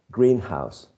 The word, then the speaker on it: greenhouse: right uh and the stretches on the first element green Greenhouse if you say Greenhouse you're talking about the place where people grow vegetables right uh herbs uh plants etc etc if you uh stress the second element green house you're talking about a house which is or has been painted green right it could be